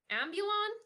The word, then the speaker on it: Ambulon: even a full leg ulon ambulon that's how you pronounce it yeah oh but um